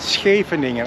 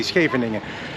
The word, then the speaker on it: Scheveningen: Scheveningen. I know for you English speaking people it is a pain in the butt to pronounce Scheveningen, but it's easy, Scheveningen.